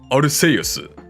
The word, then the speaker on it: Arceus: But in Japanese, it is 100% without a doubt Arceus. As somebody said in the chat, it's pronounced Arceus these nuts.